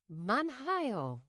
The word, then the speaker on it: 많아요: Manayo. This one, ha, is become silent.